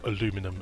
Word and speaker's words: aluminium: how much I mean your gossip men or aluminum as you Americans say plumbing do we go for fast cooling